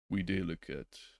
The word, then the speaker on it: videlicet: And let's get the proper pronunciation on that. That is vide licet.